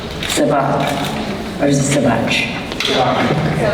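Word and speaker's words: Sevak: Sabat. Or is it Savach? Savach, okay.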